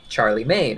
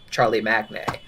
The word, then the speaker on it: Charlemagne: why it would be pronounced like Charlie Maine instead of Charlie Magne.